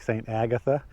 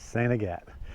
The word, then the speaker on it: Saint Agatha: night in saint agatt if you look at how they spell that it looks like saint agatha and some probably do pronounce it that way but up here in aroostook county it's sanigate but i'm staying at